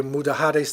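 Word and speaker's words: Mudéjares: And the Spanish, they say Mudahares, they don't pronounce the J.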